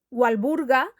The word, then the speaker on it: Walburg: de estos dos nombres walburg se pronuncia con v aunque se escribe con w porque en alemán la W se pronuncia como una V sin embargo walburga era inglesa y en